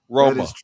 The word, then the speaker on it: Roma: So, uh Italians in the US say Rome has one syllable. It it it Italy Rome has two syllables. Interesting. It's true. Roma.